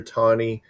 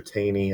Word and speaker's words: Taney: justice at the time Roger tawny some people call him Roger Taney I think it's Roger tony is how you're supposed to pronounce that but Roger tani he came